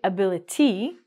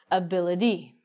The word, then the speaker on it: ability: So we don't say ability in Canadian and American English. We say ability.